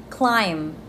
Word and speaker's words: climb: entrepreneur entrepreneur illinois illinois climb climb silent b climbing partner lip balm